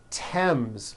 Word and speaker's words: Thames: spelled with a th they are pronounced as if they were spelled with a normal T like that and these words are Thomas Thompson Teresa Thailand Thames like the river Esther